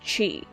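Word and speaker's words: χ: what is cuck Kingdom heart's Chi it's pronounced Chi the browser game was the story of your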